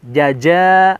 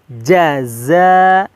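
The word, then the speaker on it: جزاء: perlu kita perhatikan jaza Awas tertukar atau sama dalam maksudnya Jaja atau Zaza salah ya tapi jaza yang tadinya dengan kalau dilatinkan tut pakai JNE ya Ja Hai kemudian selanjutnya pakai Z jaza seperti itu jazakallahu home jazakallahu home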